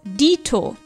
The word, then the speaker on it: dito: In German we also use this phrase, but we write and pronounce it slightly differently as dito.